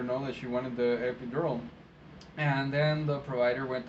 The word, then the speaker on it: epidural: And of course, when I heard her say epíldora, I already knew what she was talking about, and I went ahead and let the provider know. I didn't let the provider know she was saying it wrong.